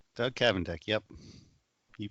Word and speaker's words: Kavendek: And that is very special guest and friend, Doug Kavendek. Doug Kavendek, yep. You pronounced it correctly.